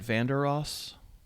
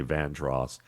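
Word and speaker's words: Vandeross: Am I saying it right? Vanderross. Yeah. Yeah. Though I keep wanting to say Vandross, but uh that's just because, you know, that's because of my wife's listening choices at home.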